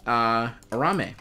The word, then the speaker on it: Arame: Arame, right?